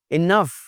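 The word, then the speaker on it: enough: इनफ बोलना है जनाब इसको, इनफ बोलना है, कैसे भला? जैसे सफ़र बोलते हैं आप।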